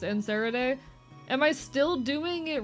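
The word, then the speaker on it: Nereid: It's pronounced Nerid.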